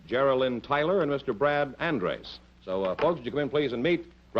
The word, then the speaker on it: Andres: the way you pronounce it? Andres, yes.